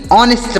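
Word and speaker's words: honest: ईमानदार होता है ऑनेस्ट तो इसे आपको नेस्ट नहीं पढ़ना यानी एच का उच्चारण यहां पर नहीं किया जाएगा इसे आप ध्यान रखेंगे यहां पर इसे नेस्ट नहीं ऑनेस्ट पढ़ेंगे ऑनेस्ट मतलब होता है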